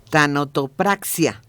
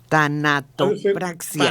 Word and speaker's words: tanatopraxia: Oye, que fue un experto en a ver si lo puedo pronunciar, tanotopraxia. Tanatopraxia.